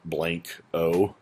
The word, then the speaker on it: Blanco: to town and immediately think it's Blanco so in those situations you might actually write out blank o um it's a case-by